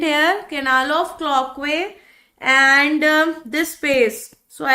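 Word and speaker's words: Cloquet: this this canal is called as Canal of clockwise the tea is silent here Canal of clockwise and this space so I have to write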